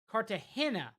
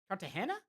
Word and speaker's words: Cartagena: Incidentally, hey, Barusa, incidentally, the G in Cart Cart is pronounced like an English H. So, Cartahena. Cartahana.